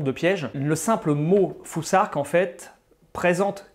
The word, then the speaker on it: futhark: Ensuite, la troisième rune du Fusark, que vous voyez ici, elle se prononce un peu comme l'anglais thing, on doit donc prononcer Fusark. C'est quand même extrêmement important parce que si on dit Futark ou Fusark, déjà on